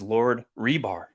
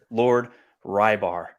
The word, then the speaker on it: Reebs: His pronunciation of his name is Lord Rebar, not Lord Rybar.